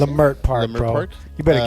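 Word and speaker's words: Leimert Park: Lamert Park, Lamert bro.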